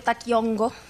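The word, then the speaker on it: Taqui Onqoy: En todo caso, el Taquioncoy o Taquiongo, que sería más bien como la pronunciación específica del quechua y más bien hacia el aymara, va a ser, por un lado, una suerte de enfermedades.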